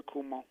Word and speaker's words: Cuomo: it over to governor kumar good morning guys this is governor cuomo please pronounce my name correctly as you hear i'm melissa de rosa